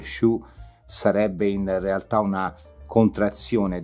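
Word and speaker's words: Sioux: lakota show in realtà si scrive su yoox ma si legge su sarebbe in realtà una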